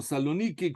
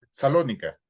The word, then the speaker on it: Salónica: Hace algunos años visité la comunidad judía de Salónica. No sé si dicen Salónica o Saloniki, como ustedes lo pronuncian, pero como dicen generalmente. Salónica. Salónica, perfecto.